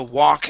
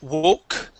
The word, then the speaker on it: walk: Okay, so walk again. Here you had said woke. It is an ah sound.